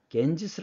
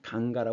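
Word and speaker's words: गंगा: 강이지이 강의 이름이 강갑 근데 이제 이게 영어 발음으로는 겐지스 아고 읽기 때문에 우리는 이것을 이제 겐지스 알고 있는데 인도 발음으로는 강가라 합니다 지금 여기서 보시면 지금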